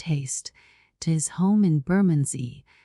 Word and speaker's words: Bermondsey: now off post haste to his home in buray pronounced bumy to get dinner and tea together a hot